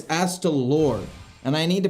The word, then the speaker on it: Astalor: I keep pronouncing it wrong. I keep saying Astalar, but it's Astalor.